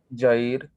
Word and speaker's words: Jair: 2, let me ask, is it Jair, or how do you say that? Jair. Jair. Okay. change it here so I can, it's Jair. I think I said that right the first time, didn't I?